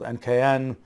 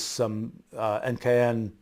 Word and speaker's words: NKN: There's this blockchain called NKN that is NKN, needless to say, sort of rhymes with NKS, my new kind of